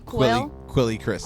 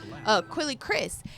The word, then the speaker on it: Quelle Chris: hard for, you know, how do you pronounce his name? Quelle Chris. Quelle, I want to call him Quelle. Quelle Chris.